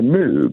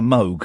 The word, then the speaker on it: Moog: love to an instrument it would be a mve because it's got I think we mean of course a Moog I let's get the pronunciation correct Let's uh